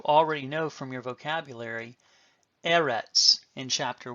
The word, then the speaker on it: Eretz: Segolate nouns are two-syllable Hebrew nouns that have their accent on the first syllable. For instance, you already know from your vocabulary Eretz in Chapter 1.